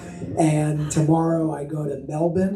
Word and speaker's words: Melbourne: And tomorrow I go to Melbourne. Is that how I pronounce it? So the R is fake. It doesn't actually exist. Okay, so I'm going to Melbourne tomorrow.